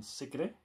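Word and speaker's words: Sigrid: region singing called secret or as it is pronounced in Norwegian secret and she released a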